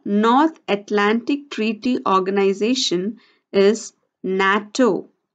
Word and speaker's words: NATO: Atlantic Treaty Organization is NATO n 80 o first letter of every word of the term is taken to form the acronym natto we pronounce it as a word the next example is